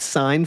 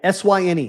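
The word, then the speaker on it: Syne: Uh, what matters is I want to show you how we can get that sign font.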